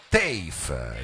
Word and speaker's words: TEIF: E tutto ciò perché stanno per arrivare qui, diciamo, sul palco del salotto, bisogna pronunciarlo così perché è un acronimo che si pronuncia TAFE, dico ho detto bene,